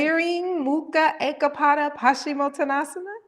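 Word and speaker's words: Tiryang Mukha Eka Pada Paschimottanasana: Tiriying Mukha Ekapada Paschimottanasana?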